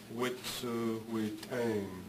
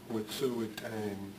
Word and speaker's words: Wet'suwet'en: And they pronounce the name Wet'suwet'en, Wet'suwet'en, Wet'suwet'en. It's almost like this is a long E there, Wet'suwet'en.